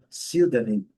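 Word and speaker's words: pseudonym: Letra P não é pronunciada essa combinação. Nem PS nem PNE não é pronunciada. O E também não. Então Sildanim primeira sílaba forte, desculpa. Senanin. Senanin.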